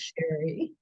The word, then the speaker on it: Sheri: I'm curious well um you pronounced my name correctly it is Sherry oh good who did